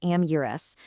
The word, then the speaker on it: amorous: It's pronounced amures.